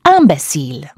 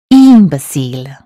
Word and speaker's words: imbécile: They say in or im at the start of the word, just as they would in English. But actually, imbecile in French is imbécile.